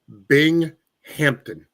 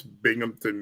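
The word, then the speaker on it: Binghamton: They pronounced it Bing Hampton. How are you on a national sports show and you don't know how to pronounce Bingmpington, New York?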